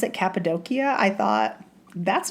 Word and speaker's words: Cappadocia: I call it Cappadocia. I did for a long time, but it's not. In fact, when I heard someone pronounce it Cappadocia, I thought, that's not how you say it.